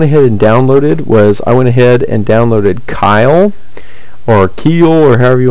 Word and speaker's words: Keil: But just to give you an overview, but it's this, I've heard it pronounced Keil, is what I've heard it be pronounced, but this one I'm looking at, this is one that you can get.